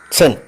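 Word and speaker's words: zehn: ഈസ് ഇസഡ് ഇറ്റ് is pronounce with a T sound in the beginning set for example സെൻ ഇസഡ് ഇ എൻ സെൻ means ten ഇറ്റ് is pronounced as സെൻ എസ് ടി ആർ എസ്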